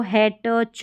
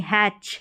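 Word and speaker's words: hatch: ये हो गया फैच, इसको हैट च नहीं, हैच, हैच पढ़ेंगे।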